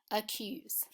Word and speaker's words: accuse: have the schwa sound listen for the schwa as I pronounce the word akise so we're going to mark that with the schwa sound accuse say the word accuse